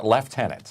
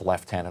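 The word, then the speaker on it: lieutenant: we're talking about uh how people say lieen or left tenant okay and and it's left tenant up here for Canada okay now for the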